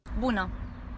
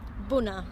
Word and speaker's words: Bună: Bună. Bună.